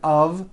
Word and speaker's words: of: speakers make this mistake even though the word of is spelled with an F we pronounce the word of with a voiced v I know this sounds